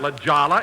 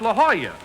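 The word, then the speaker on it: La Jolla: place jack that's not Lala it's La Hoya that's how you pronounce it in Spanish oh oh I didn't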